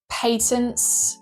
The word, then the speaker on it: patent: But, you know, the whole Power World situation where they're now they now have patents. Yes, I used the I said patent. That's how we pronounce it in the UK.